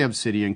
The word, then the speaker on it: Obsidian: get rich right approach now did i say obsidian correctly because i've always wondered about that you nailed it that's exactly how it's pronounced see i'm not as dumb as i